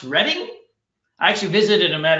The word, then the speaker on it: Reading: So I actually have a student named Simon that lives in, it's spelled Reading, but it's pronounced Reading.